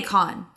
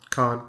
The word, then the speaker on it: Cohn: And I have been saying your name wrong. I always say Con. Cohn.